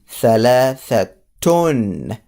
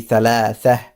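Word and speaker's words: ثلاثة: For example, if I were to continue or just put a tone in it, it will be thalathatun. That I will pronounce the ta. But if I were to stop and put sukoon in here, it will be thalatha.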